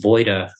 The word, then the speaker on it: Wojda: So it's like the word avoid, but you put the A at the end instead of the beginning. Right.